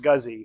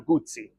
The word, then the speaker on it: Guzzi: works engineer Ing and it is absolutely not guzzy so if you pronounce it like that I am sorry for you um I call it generally Moto gozi uh the TR the purists get after me and it's really Moto gutti uh but whatever you